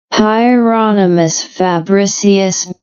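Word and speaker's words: Hieronymus Fabricius: is named after uh hyionas fabricius see the pronunciation here hieronomous fabricius yeah hieronomous fabricius from this is uh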